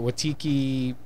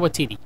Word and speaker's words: Waititi: It had great comedic beats, and then it was like I know I'm going Watiki. I can't even pronounce. Oh, Taika Waititi.